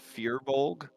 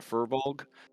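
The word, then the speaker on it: firbolg: conversation where she tries to explain that it's pronounced fear bulge uh and not furbolg uh or furbolg or any of that and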